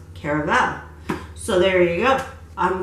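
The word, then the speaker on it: Caraval: And I also have, and I found out that it is pronounced caravel.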